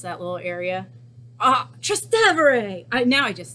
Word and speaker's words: Trastevere: to Rome and she showed me how to pronounce that little area. Ah, Trastevere!